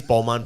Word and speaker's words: Balmain: Like, who needs a Balmain t-shirt that says Balmain Paris? Am I even pronouncing it right?